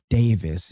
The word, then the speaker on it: Davis: I'm pretty sure it's pronounced Pearl Davis, and over there in UK, they're pronouncing it as Pearl Davies or Davies, stuff like that.